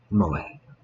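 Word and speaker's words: 萌え: entertainment centered around characters who possess such traits, pronounced moe.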